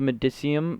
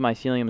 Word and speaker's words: mycelium: think that all the medicum or mycelium mycelium I was saying it wrong last episode all the mycelium is grown which is